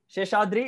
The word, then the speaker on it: Seshadri: Sheshadri. Yes, you're right. Sheshadri is the correct pronunciation, but you're right.